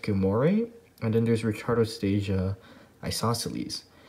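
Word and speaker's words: gilmorei: richardostasia there's richard stasia i believe it's pronounced gumoree and then there's ricardostasia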